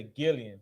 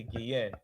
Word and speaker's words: Guillen: So now we're gonna talk about Vanessa Gillian. How you say her name? Yen. Guillen? Yen, yeah. Anybody familiar with Vanessa Gillian or Guillen? Vanessa Guillen.